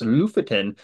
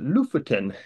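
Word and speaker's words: Lofoten: to ltin Norway and it's actually kind of pronounced Loftin um I always have a hard time pronouncing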